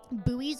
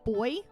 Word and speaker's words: buoy: but I've learned that in uh Britain, buoys are pronounced boy. So this joke with a British accent would be boy oh boy. But in America, we say buoy, so it's buoy or buoy.